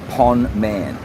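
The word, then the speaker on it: ប៉ុន្មាន: SA say this it means how much and it's spelled p o n Finelli m a n Pon man so when you're on Street 136 and need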